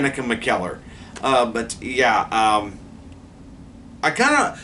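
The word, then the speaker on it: McKellar: uh I last night I couldn't pronounce her last name it's Dan mckel uh but yeah um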